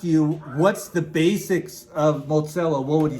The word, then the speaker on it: motshelo: One word, Mozillo. Now, Mozillo is a word from your native tongue, and it's spelled Motshelo.